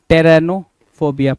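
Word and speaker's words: pteronophobia: पी को हम silent करेंगे। टी ई आर ओ एन ओ टेरेनोफोबिया।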